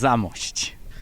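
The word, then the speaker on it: Zamość: the beautiful city of my last chance to mispronounce something zamos it's zamos that was close actually you were close and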